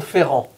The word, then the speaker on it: Ferrand: And cognac it is, not just any cognac, but the Maison Ferrand.